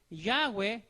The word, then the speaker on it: Yahweh: Entonces, por eso aquí entonces se debe pronunciar en la otra forma, como suena esa letra hebrea. ¿Ya? En este caso aquí es Yahweh, como está aquí en